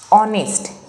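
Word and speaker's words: honest: बघा आता इथं की एच ने स्पेलिंग स्टार्ट होते पण आपण साऊंड वाचताना ऑने वाचतोय म्हणजेच काय तर ओवेल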